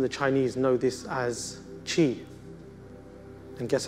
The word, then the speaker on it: qi: The Japanese and the Chinese know this as qi. And guess how it's spelled?